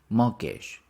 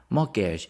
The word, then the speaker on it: mortgage: a mortgage morage mortgage we don't pronounce the t morgage morgage is a home loan